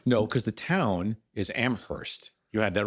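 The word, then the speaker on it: Amherst: never knew that yeah the town you say the H the college you don't say the H I never knew that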